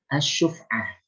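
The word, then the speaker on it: asy-syuf'ah: Atau misalnya dalam kasus asyuf'ah ini bacanya asyufah yaitu hak paksa.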